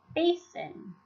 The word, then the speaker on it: basin: The first syllable is an open syllable because it ends in one vowel, bay. The second syllable is a closed syllable because it ends in a consonant, keeping the vowel short, sin. When you put it together, it is the word basin.